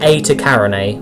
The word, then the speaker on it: Eta Carinae: So let's get Eta Carinae, or I think that's how you say it.